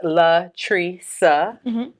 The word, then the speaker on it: LaTricia: I'm Latrice pronounced Latrice on LinkedIn.